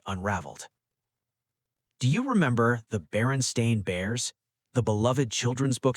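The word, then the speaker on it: Berenstain: It is spelled Baron Stain with an A, not Baronstein with an E.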